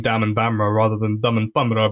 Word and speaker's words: Daman Bamrah: to say my name so I say it's Dam and bamra like samon camera so I call my